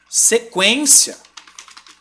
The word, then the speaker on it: sequência: isso né Por exemplo se você tem a palavra sequência Poxa Aí sim você tá pronunciando un não tá presta atenção